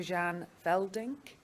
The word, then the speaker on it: Jan Veldnik: Jan Veldnik. Is that pronounced properly?